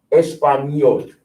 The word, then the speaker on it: Español: Español. Español. Y eso es importante. When you see the little squiggle over it, it's pronounced ña, ña.